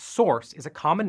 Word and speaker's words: src: SRC, pronounced source, is a common name for the folder that holds uncompiled code in a project.